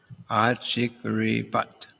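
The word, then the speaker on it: अचीकॢपत्: So I guess that word, second line, achik, with a L with a dot under it. That L is like, it says it's like, as in, L is in Ri. So, achikripat. That's how it's pronounced.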